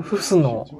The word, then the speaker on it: Huscenot: おおお、飛んできたけど、マキシムフスノーさん、フスノーさ